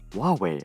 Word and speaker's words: Huawei: Ren altered this to Huawei, or as it's properly pronounced, Huawei, which translates to China is able.